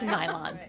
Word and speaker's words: Nylon: And I had to get help in pronouncing that correctly because it looked like New York, London to me, but it's Nylon, N-Y-L-O-N.